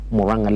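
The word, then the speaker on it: Murang'a: September 12th, Moranga leaders, I was told this this this word is Moranga leaders. So I should pronounce it correctly. Moranga leaders.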